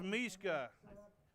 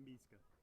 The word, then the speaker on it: Miska: got it it was miska and i apologize i mispronounced his name three times it's misca he's a sack man he's a sack master all right fourth down and 20.